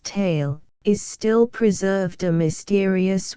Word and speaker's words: Thal: old cluster of when fusen in DF Thal pronounced tale is still preserved a mysterious Wonderstone which is